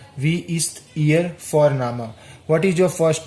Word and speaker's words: Vorname: As I said earlier, V is pronounced as F, so here it will come, wie ist Ihr Vorname?